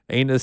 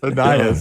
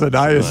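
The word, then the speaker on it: Ainias: Remember last year when Jim mispronounced Anus Smith? Annias. It's Annias Smith.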